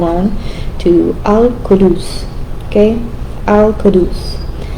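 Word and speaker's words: القدوس: Alcadus. The U is pronounced like U and then the Q like a K.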